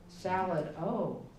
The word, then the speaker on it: Salado: How do you spell Salado? S-A-L-A-D-O. Salad, oh.